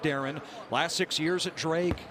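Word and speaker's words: Darian: Dev yeah spelled like it's Daren but no pronounced Darren last six years at Drake NCA tournament bids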